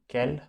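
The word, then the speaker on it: quel: इसके लिए हमारे पास में 4 हैं, कैल, कैल प्रोनाउंसिएशन सबकी सेम है, कैल एंड कैल।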